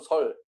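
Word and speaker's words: 說: 예, 설이라는 글자는 그 해석 여하에 따라 발음이 달라집니다. 말하다라는 뜻에서는 설, 기뻐하다는 뜻으로 해석할 때는 열, 달래다, 뭐 아이를 달래다, 선거유세하다라고 할 때는 세로 발음이 됩니다. 우리는 여기에서 열로 발음을 하고 지금 여기 써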